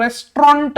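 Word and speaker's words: restaurant: दुसरं रेस्टॉरंट मध्ये आर नंतर ई नसतो, ए असतो, रेस्टॉरंट, त्याचं ऍक्च्युअल प्रोनाउन्सिएशन रेस्टॉरंट असतं. हे टी नंतरचं ए आणि यू जो आहे ना तो सायलेंटच असतो, पण स्पेलिंग येतं, लिहावं बरोबर लागेल.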